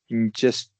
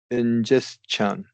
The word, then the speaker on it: ingestion: Ingestion. Ingestion. Ingest. Yeah, Yeah. So last two words, I was not fully aware it should be pronounced with ch sound.